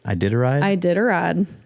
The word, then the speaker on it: Iditarod: The Iditarod. Iditarod.